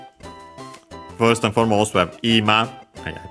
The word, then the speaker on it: ima: First and foremost, we have ima. Yeah, this is the one accent on the first mora, definitely considering the context.